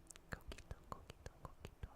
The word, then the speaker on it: coquito: Coquito.